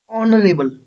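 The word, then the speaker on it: honorable: ऑनरेबल person H silent होगा। ऑनरेबल ओ ठीक है?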